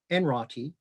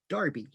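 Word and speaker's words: Enroughty: you will see the the word enroti which just to show you how confusing this area is uh is locally pronounced darby and you will see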